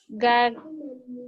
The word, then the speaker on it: gagner: Gagner. Gagner. When we have what letter N, when we have letter N after letter G, we say nya, nye, nye, nyo, nyu. So we say gagner.